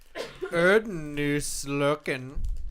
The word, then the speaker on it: Erdnusslocken: That's an S. That's a double S. It's Erdnuss. It's an S set. It's a B. It's a S. That's how they do double S's in Germany.